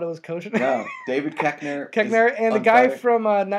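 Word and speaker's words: Koechner: like the health class and they got David Kosher in there and kosher.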